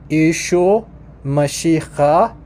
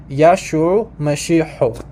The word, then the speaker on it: Yeshua Mashiach: So in Eastern, it's pronounced Yeshua Mashiach. Yeshua Mashiach. Western, Yeshua Mashiach.